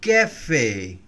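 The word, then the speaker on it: café: থেকে ডানের দিকে যায় তো এই অ্যাকশনটা থাকলে অ এর উচ্চারণ অর্থাৎ ফ্রেঞ্চ অ্যালফাবেট অ এর উচ্চারণ আর অ থাকবে না উচ্চারণটা এ এর মত হয় আমি উদাহরণ দিচ্ছি লু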